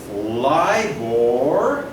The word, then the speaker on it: LIBOR: ism leave or and sometimes libras plunder pronounced as LIBOR okay London interbank offered